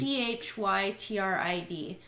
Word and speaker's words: chytrid: It's CHYTRID.